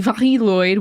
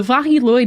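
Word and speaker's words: Mari Lwyd: I bet yes so the viloid which I've heard a lot of pronunciations while researching this episode this seems like it is the Welsh pronunciation I saw the most so that's what I'm going with the vah lyd is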